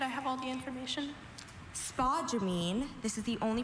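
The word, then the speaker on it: spodumene: Spa jamine. This is the only pronunciation noun.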